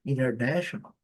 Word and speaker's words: international: Como esse t muitas vezes assim aqui international. International. Aqui esse T não, esse T pronunciado com esse som aqui, SH. International, OK? Essa combinação TI com esse som de international.